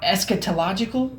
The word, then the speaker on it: eschatological: know how to say es esal eschatological is how you say it why can't you speak